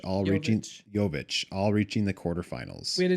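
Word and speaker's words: Jović: And Teenage Phenom, uh, Eva Jovich, all reaching Yovic all reaching the quarterfinals.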